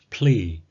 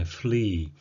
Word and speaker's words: plea: 예, P를 F로 발음하시게 되면은 예, flee, 예, 벼룩이란 뜻 또는 flee, 도망가다란 뜻과 예, 그런 의미가 되니까 P와 F의 발음을 정확히 구분하셔야 되겠습니다.